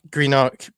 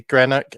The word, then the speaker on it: Greenock: But Greenock, that's the way it's spelt.